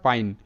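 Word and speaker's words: pine: পি আই এন ই এটার উচ্চারণটা পাইন কারণ পি তে প আই এর উচ্চারণটা আই প আই পাই এন তে ন পাইন আর শব্দের শেষে ই সাইলেন্ট তো এই শব্দটিতেও কিন্তু আই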